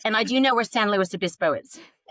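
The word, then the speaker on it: San Luis Obispo: And I do know where St. Louis Abyspo is.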